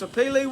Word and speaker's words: sapele: That's how you pronounce sapele wood.